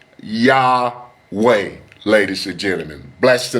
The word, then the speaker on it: Yahweh: But the most accurate name today, ladies and gentlemen, is Yahweh. It is Yah way.